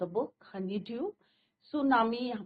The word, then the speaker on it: tsunami: तो बच्चों this is your second chapter from the book Honey due सुनामी यहां पे टी is your silent Japanese word है बच्चों सुनामी सु मींस